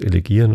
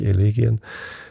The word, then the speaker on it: Elegien: Also Duineser Elegien habe ich mittlerweile verstanden, dass ich sogar Elegien falsch ausgesprochen habe. Das heißt Elegien und nicht Elegien.